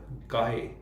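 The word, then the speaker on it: chi: हम रिप्रेजेंट करते हैं काय टी से काय इसको लिखते ऐसे हैं काय लेकिन इसको प्रोनाउंस के आई के तौर प करते हैं ये एक तरह से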